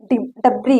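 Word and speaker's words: debris: कह सकते हैं जैसे डबरी होता है यहां पर देखिए यहां पर देखिए डी ई बी आर आई एस डब्री इसको पढ़ते हैं डब्री मतलब होता है अवशेष यहां पर यस साइलेंट हुआ ठीक है इस प्रकार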